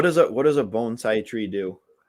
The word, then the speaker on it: bonsai: earlier because i said bonsai when we were coming up with different answers for it and he said no it's actually pronounced bonsai uh bonsai like you sigh after you break your bone bones bonsai is that